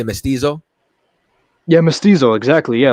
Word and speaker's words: mestizo: I'm how do I pronounce it? You're gonna say mestizo?